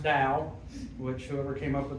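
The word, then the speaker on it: Tao: A lot of people their first question is so what's this toe or towel or it's actually pronounced dao which whoever came up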